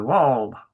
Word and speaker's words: wall: lie next to the wall. Indeed. Wall having to rhyme with law, so take out the L's.